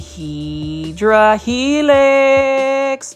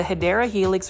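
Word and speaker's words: Hedera helix: shopping without finding a HRA helix or the correct way to say it is the hyera helix or English ivy really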